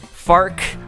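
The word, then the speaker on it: Farquaad: as a visual pun farc rhymes with Mark so the meme functions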